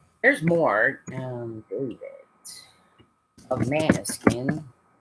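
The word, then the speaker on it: Måneskin: Um David of Manuskin. That's the way I pronounce it. I've heard it pronounced different ways. Depends on what language you're trying to pronounce it in.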